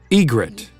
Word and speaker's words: egret: iget actually don't know let's listen to the pronunciation Egret eget Egret eget so this dude is snowy